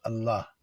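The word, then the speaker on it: الله: Allah. Donc, un. Et encore, si vous voulez, vous ne prononcez pas le A à la fin. Allah, Allah.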